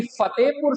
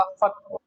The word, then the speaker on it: फतेहपुर: होती है कि फतेहपुर सीकरी का जो बसावट है, जो उसका अस्तित्व बहुत पुराना है।